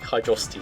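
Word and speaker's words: Hydrocity: worst actually it is actually oh I like hydrosity Zone and that's how it's pronounced yeah no talking about not Sonic 3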